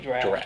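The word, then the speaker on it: draught: say that that's actually draft right yeah yeah it's spelled it's not even spelled like drought no it's spelled draft d-r-a-u-g-h-t u-g-h-t drought yeah see even i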